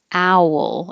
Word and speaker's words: owl: looking back for something owl it's almost two syllables ow wool but you blend them together owl owl this one